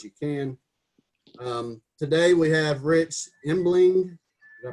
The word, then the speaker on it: Rich Embling: Today we have Rich Embling. Did I pronounce that right, Rich?